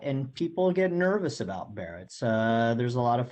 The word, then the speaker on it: Barrett's: in asking can uh barretts or barrettes go away am i pronouncing that correctly yeah um that's that's barrett's and um you know